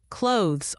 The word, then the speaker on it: clothes: Clothes often gets mispronounced. It's really just one syllable almost like clothes with a soft teach sound at the end.